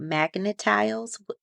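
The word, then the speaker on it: Magna-Tiles: So what about earlier you said something about magnetiles? Did I say it correctly? Magnetiles?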